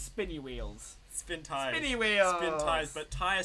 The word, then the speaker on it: Spintires: Spintires, but tire spelled like Spinny tire.